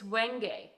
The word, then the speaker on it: wenge: By the way, I figured out how it's pronounced. It's wenge.